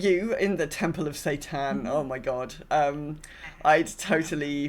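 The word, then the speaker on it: seitan: It's so Satan, spelled like this, is it's like a wheat protein.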